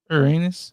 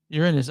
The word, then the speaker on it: Uranus: How do you pronounce Uranus? It's like that. No, it's not. Uranus? I don't know. No, it's Uranus. Uranus.